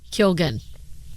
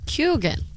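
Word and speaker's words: Keoghan: Kyogen. No, there's no N at the end of his name. Barry Keogh? How do you say this guy's name? He used to date Sabrina Carpenter. Kyogen.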